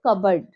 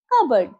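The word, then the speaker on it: cupboard: পি আছে কাব্ডিড হয় কিন্তু এটা ভুল সঠিক উচ্চারণ হবে কাবার্ড কাবার্ড এখানের পিটা সাইলেন্ট আছে নেক্সট এস এ ওয়াই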